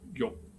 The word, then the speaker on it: 欲: 浑欲不胜簪 We have this character again, yu, pronounced as yok in Middle Chinese and Cantonese.